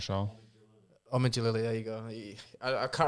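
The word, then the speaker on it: Omid Djalili: I think that was a TV advert once, like back in the 2000s with the comedian Amida Jalali. Is that how you say it? I'm not sure. Omid Jalali, there you go.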